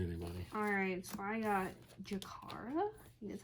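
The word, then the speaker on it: Jakarra: Alright, so I got Jakara. That's how you pronounce it.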